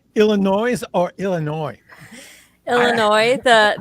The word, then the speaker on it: Illinois: said illinois or illinois illinois the the s is silent um but a lot